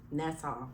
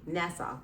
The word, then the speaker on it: Nassau: Well, Nassau. See? Nassau.